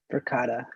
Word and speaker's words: Verkada: the purchase installation of Verkada that's how you pronounce it, right? Environment sensors. Verkada, yeah.